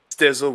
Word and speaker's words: Stizzl: Stizzle would be the correct way. When I started out, I called myself Stizzle with like a sh. Okay. But then people kept mispronouncing it, so it's Stizzle now.